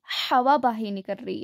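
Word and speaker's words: ح: उसके बाद क्या है, ये देखिए, इट is pronounced from the centre of the throat and the wind comes out of your mouth.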